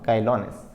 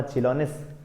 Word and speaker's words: chilonis: देखने वाले हैं ट्राइकोग्रामा काइलोनिस। ट्राइकोग्रामा काइलोनिस या ट्राइकोग्रामा चिलोनिस भी अपने आप में कोई प्रोनाउंसिएशन कह सकते हैं हम।